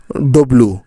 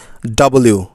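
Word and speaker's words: W: আমাদের শেষের যে লেটারটা রয়েছে এটাকে আমরা বলি ডব এটা হলো ডব মোটেও নয় এটার সঠিক উচ্চারণ হলো ডবলিউ ডাবল ইউ কারণ ডাবল মানে হচ্ছে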